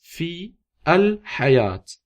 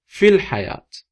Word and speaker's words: fil hayat: So basically in Arabic it's fi al hayat, in the life. Fi al hayat. But we spell it like that, fil hayat. Fil hayat. It's just like one word.